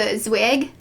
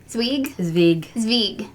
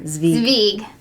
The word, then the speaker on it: Zwig: colorwork sweaters, like the Zwig. Zvig. It's with a V. Zvig. Pronounced with a V.